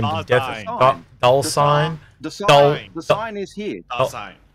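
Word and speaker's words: Dullsign: Dulcine. The sign is here. Dulcine is in D-U-L-L-S-I-G-N. Dulcine. Dulcine. Dulcine. Da as in the.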